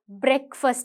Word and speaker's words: breakfast: But நாங்கள் சொல்லும்போது breakfast என்று தான் சொல்லுவோம். Right? That's how you pronounce it.